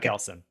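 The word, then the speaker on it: Kelsun: and so wanted to dive into Kelson or maybe I did I pronounce that right that's right Kelson Kel so I I wanted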